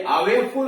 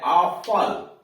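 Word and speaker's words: awful: आफल, ये अवेफुल हम लोग कहते हैं, आफल, आफल का मतलब बहुत बेकार, आफल का मतलब बहुत बेकार।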